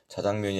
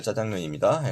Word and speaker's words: 짜장면: 더 효과가 있어 보이잖아요 자장면이 아니라 짜장면입니다 예 동그라미 일보 의견